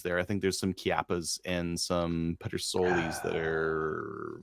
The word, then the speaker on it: Chiappa: I think there's some Chiappas and some Petersolis that are a little bit less if they're not. Name another word. Name another word that starts with the letters CH that's pronounced K. It's Chiappa.